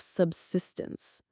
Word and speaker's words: subsistence: It's called living at the level of subsistence. Let's look at that word subsistence. Say it with me. Subsistance. Subsistence. The stress is on that second syllable. Sis.